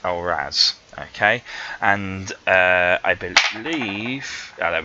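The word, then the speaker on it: Algiz: Now the next one sometimes looks like algaes. That's how it kind of looks like it's pronounced, but it's actually pronounced Alraz.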